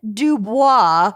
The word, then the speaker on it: Du Bois: Meanwhile, from Colombia, Mark Schiller had hired a Miami-based private investigator named Ed Dubois.